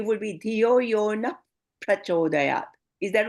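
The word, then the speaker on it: prachodayāt: So the easiest way is as if like making the pa as double. And once you get the hang of it, then you can make the first part as a softer, like prachodayat, na prachodayat.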